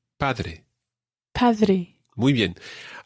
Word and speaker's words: padre: A wee tip with the pronunciation here. If you imagine air coming through your mouth, it comes up from your lungs and it comes through your mouth and out. And when the air comes out, sometimes you stop the air coming.